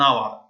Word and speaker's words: hour: i see n an hour n hour why because here that h is a consonant maybe it's silent little so we don't pronounce it so if i say